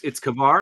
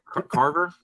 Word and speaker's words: Kavar: Wait, so it's Kavar? It's not Carver?